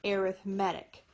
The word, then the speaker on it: arithmetic: But for some reason, and I've never really understood why, when we're talking about sequences, we pronounce it differently. We say arithmetic.